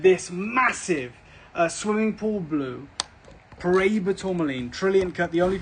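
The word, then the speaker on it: Paraíba: Look, I mean, I hear it a lot of different ways. Paraiba. The Brazilians say it different to the guys in Mozambique.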